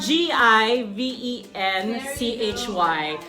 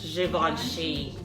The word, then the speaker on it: Givenchy: a Givenchy in roast Africa so it's GI ve n CH y some people would say it's Givenchy or Givenchy but it's pronounced as - Siobhan Sheen alright so it goes there's a few lipsticks